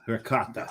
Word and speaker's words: ricotta: It is ricotta. It's ricotta. The C gets pronounced twice. It's doubled up.